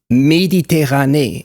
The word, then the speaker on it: Méditerranée: in my brain was how he pronounced the Mediterranean Sea in French. He called it La Mer Méditerranée. And he made sure we heard that he did every E, accented E, as the same exact sound, because in French there's